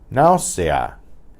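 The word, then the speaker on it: náusea: Finally, we have a diphthong and then 2 strong vowels together, so they form separate syllables. Nausea, nausea. The ow is 1 syllable, and the a and the a are separate syllables.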